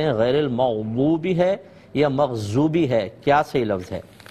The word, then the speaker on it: مغضوب: دیکھیں ضاد ہے، مغضوب، بو اس طرح ادا کرنا ہے، زو ادا نہیں کرنا ہے، کیونکہ وا کا تلفظ زوئے جس کو ہم کہتے ہیں وہ علیحدہ ہے، ذال علیحدہ ہے، زا علیحدہ ہے، بود کے اندر دال کی سی آواز نکلتی ہے لیکن پر آواز نکلتی ہے موٹی، مغبوبی، ضالین.